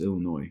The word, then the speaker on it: Illinois: that aren't from Illinois pronounce the S in Illinois. It's crazy. Like my dad, when he didn't know it was pronounced Illinois until he met my mom.